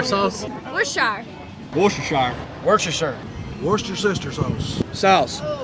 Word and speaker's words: Worcestershire: How do you pronounce that? Worcestershire sauce? Worcestershire.